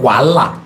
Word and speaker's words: Wahala: And it's spelled W-A-H-A-L-A. Wow. It's called Wala. Okay, Wala. That is it. You will succeed. Success. Oh. Not Wahala.